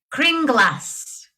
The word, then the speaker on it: Kringla: Kringlas. Kringlas. Trying to get that into the song, but anyway. Not gonna work. It's not gonna work. It could. Happy Kringlas. Happy Kringlas. Bring us some Kringlas.